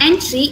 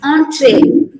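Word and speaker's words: entrée: the second word it's pronounced as entree it's not entry it's entree an entree is the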